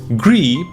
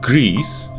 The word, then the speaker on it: Gris: about what we've experienced Gris probably pronounced grease since this is a Spanish developer is one of those